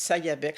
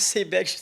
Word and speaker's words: Sayabec: Donc, quand j'ai trouvé ce bâtiment-là, puis que c'était marqué Sayabec, j'ai dit Sayabec, je connais pas Sayabec. Alors, en parlant avec mon agent d'immeuble, il dit Madame Moule, on prononce Sébec.